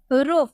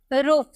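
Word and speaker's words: roofs: को मिल रहा है इसलिए इसका उच्चार हम 100 में किए हम बोले रूफ ठीक है रूफ नेक्स्ट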